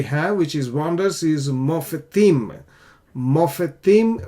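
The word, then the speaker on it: מופתים: Okay, now another word that we have, which is wonders, is mofetim. Mofetim, we say mof, slightly we pronounce the schwa. This is a vocal schwa because this previous vowel is long.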